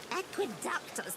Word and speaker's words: Aqueductus: Aqueductus, not aqueduct.